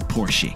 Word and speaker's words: Porsche: your name too and if you drive a Porsche or porschea we all know it's really porsi Porche yees if you